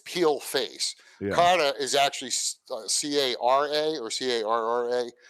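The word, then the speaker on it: cara: Kata is actually C-A-R-A or C-A-R-R-A. Yeah. But when they pronounce it, it sounds like it's a T, right?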